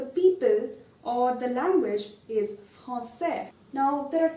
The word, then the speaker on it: français: And the people or the language is français.